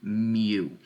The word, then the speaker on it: mu: U here, but it's actually the Greek symbol mu. We spell that M-U, okay?